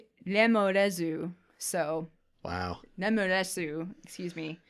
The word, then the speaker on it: lemures: The Japanese pronunciation of lemures is lemorezu.